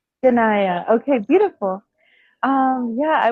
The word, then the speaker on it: Ayanna: Um, can I ask about the pronunciation of your name? Yeah, it's Ganaya. Ganaya.